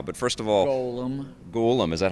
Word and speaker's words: Golem: called golum uh but first of all Golem golum is that how you pronounce it well that's how we pronounce it all right very nice golum is the uh enemy in uh Lord of